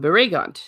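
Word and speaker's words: Baragund: Barragond. The emphasis on the second one, Barragond.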